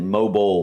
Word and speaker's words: mobile: that case, yeah, mobile, you're pronouncing the I. We're not. We're pronouncing it mobile, like mobile, like MOBLE BLE. or something.